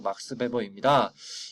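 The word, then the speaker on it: Max Weber: 독일어에서 W는 브 발음이 나요. 그래서 막스 베버입니다.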